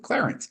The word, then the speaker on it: Clarence: what isn't it Clarence I thought you're supposed to pronounce it Clarence but no that's actually like a plot point where like then the woman uh God deia vinia vinia pronounces it correctly he's like you're the only one who says my name with two syllables which isn't really true